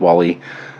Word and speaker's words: WALI: strategy here um so we're going for pronunciation Wall-E and not like wh or woy or anything there's some difference in pronunciation wum wallum and and things like that we're going with Wally I'm just decreeing that um so the